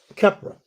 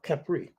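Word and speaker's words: Khepri: The beetle pushing up the sun, Kepra or Kepri. They have different ways of pronouncing it.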